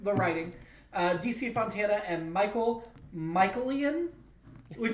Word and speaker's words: Michaelian: DC Fontana and Michaelian, which sounds like made up. It's spelled sounds Michael with an I-N at the end.